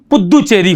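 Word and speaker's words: पुदुचेरी: और 7 नंबर की बात करता हूं मैं, तो 7 जो है यह पौंडीचेरी, इसका प्रोनाउंसिएशन वर्तमान में इसकी भाषा के अनुसार पुद्दुचेरी हो गया है।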